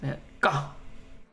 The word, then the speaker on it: Van Gogh: It's pronounced Van Gogh.